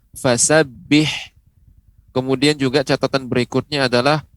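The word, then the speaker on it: فَسَبِّحْ: kemudian yang berikutnya adalah pengucapan fasabbih ini huruf H kecil ya huruf H yang kecil ha ha begitu fasabbih kemudian juga catatan berikutnya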